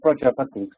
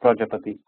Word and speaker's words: Prajapati: Just you can pronounce it as PRAJAPATI, I would say, Chrissy. You can pronounce it like that. That's how I would say it, PRAJAPATI.